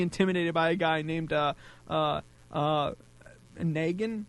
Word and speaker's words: Negan: Negan is coming. Yes. And it is pronounced Negan.